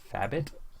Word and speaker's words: Thabit: Thabit? Thabit. Oh, like an abbey? Like Abbott and Costello?